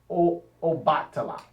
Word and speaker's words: Obatala: This is why I like to say Obatala. Ba, in the African religion, all over, even in Kemet, which is ancient Egypt, Ba means body or man, the man's body, male body.